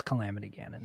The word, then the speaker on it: Calamity Ganon: it kaleena calamity ganon it's calamity ganon that's how you pronounce it she's not gonna talk